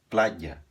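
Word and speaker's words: playa: na Espanha se diz plaia aqui esse Y tem o som de consoante você faz um I pressionando a língua no céu da boca e depois solta outra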